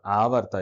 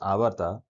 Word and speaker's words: Avarta: So avarta or avata is pronounced avata is a Sanskrit word that generally means worldpool